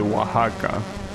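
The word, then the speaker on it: Oaxaca: You pronounce it waka like the the ed is is pronounced as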